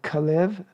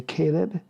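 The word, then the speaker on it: כלב: remembering and they are kalev in english you say caleb benifune from the tribe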